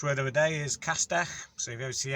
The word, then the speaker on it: Castell: The Welsh word is Castell Nedd. So Castell, it's obviously not a direct translation because Castell Nedd, the Castell bit means castle. So today's Welsh word of the day is Castell.